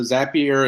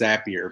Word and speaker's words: Zapier: zapier is when uh cuz I hear that it is a pure xapi erks i hear pronounced here but i assume it's appier but i'm from california i say things however I want he inspires happier